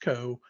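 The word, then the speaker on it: ko: And since we write a lot of things in Go, they have a project called K-O, I think it's pronounced Co, that does this for Go binaries.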